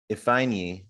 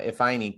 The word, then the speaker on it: Ifeanyi: Author Casey Ifeanyi, is that how you pronounce it? Yeah. Ifeanyi. Yeah, Ifeanyi.